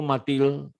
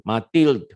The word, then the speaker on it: Mathilde: Oh Matilde ya, dia nggak Matilde bacanya nggak kayak gitu. Matilde Kalaupun dia tipis D-nya itu. Mathilde.